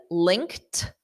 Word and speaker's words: linked: Now, this word linked, this ED is pronounced as a soft T. Okay, because the verb is to link, to link. So the ED is just a soft T.